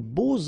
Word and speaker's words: beaux: And here it's quite interesting because even if you've got this X, well, phonetically it will be like Z, so like if it would be an S, okay?